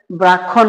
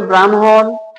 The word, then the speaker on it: ব্রাহ্মণ: এটার উদাহরণ দেখেন ব্রাহ্মণ অনেকে এটাকে মনে করে যে ব্রাক্ষণ বলে থাকে আমরা যারা না জানি এটাকে ক্ষিয় মনে করে অনেকে এটাকে বলে যে ব্রাক্ষণ বা ব্রক্ষপুত্র বা ব্রাক্ষণ বাড়িয়া অনেকেই পড়ে থাকে যেটা ভুল তাহলে উচ্চারণ হবে ব্রাহ্মণ ব্রহ্মপুত্র ব্রাহ্মণবাড়িয়া আশা করি বিষয়টি বুঝতে